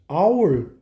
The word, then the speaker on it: hour: Mas ora, hour, o H é mudo. Então você vai falar an hour.